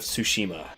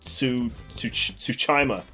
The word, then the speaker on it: Tsushima: I will be presenting Ghost of Tsushima, or Tsushima. Perfect. And depends how I know it's such a hard pronunciation.